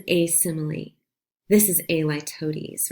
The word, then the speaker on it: litotes: This is, that's how you say it, litotes.